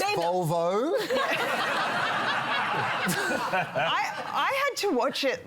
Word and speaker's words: Volvo: Like, It's pronounced Volvo.